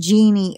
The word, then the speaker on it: Jean: She wants it pronounced Jeannie also, just like me.